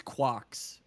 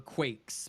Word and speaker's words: Quax: Well, see, people have said that it's Quarks or Quakes because everyone is Quad uh or Quidd like the QU sounds differently for me. Uh and everyone mispronounces my name at first, so I have to correct them.